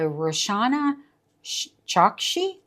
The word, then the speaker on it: Roshani Chokshi: And then our next one is The Swan's Daughter, possibly doomed love story by Roshani Chokshi, I think is how it's pronounced.